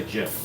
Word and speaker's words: GIF: Yeah, he wants you to say Jif, like the peanut butter. Like it says. But he spells it Gif, like giraffe.